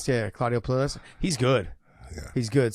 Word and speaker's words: Puelles: Puelles. Yeah, Claudio Puelles.